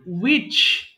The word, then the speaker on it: which: উচ্চারণ করতে হবে who এরপরে which এটাতেও H এর উচ্চারণ দরকার নেই which এরপরে whose how much